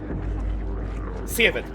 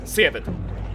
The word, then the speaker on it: Seved: You pronounce it like Seveid or Sevid? Sevid. That is how I pronounce the name. Sevid. I am mad. Sevid. There you go. A very, very Swedish pronunciation.